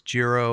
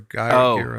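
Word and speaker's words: Giro: It's called It's It's spelled G I R Oro. It's Jirro or Gro.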